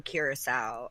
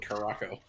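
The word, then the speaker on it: curaçao: a shot of blue curacao, a shot of vodka. How do you say curacao? We always call it Caraco. It's both. It's whatever part of the country you're from.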